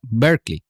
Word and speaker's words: Berkeley: del obispo es Berkeley y la ciudad en California se pronuncia Berkeley.